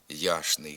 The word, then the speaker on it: ячний: нічний точний Удачний але в низці давніх народнопобутових слів група чн мовляється як шн пояснюється це тим що групу шн легше вимовляти ніж сполучення чн Так ми пишемо ячний хліб ячник А вимовляємо яшний хліб яшник правописне пшеничний також вимовляється